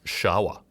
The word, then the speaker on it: Sherpa: And the word Sherpa, which is pronounced more like Shawa in Tibetan, yes, actually means something close to Eastern people.